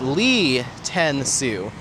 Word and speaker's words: Lei Tenu: My name on here is actually pronounced Lee Ten Su.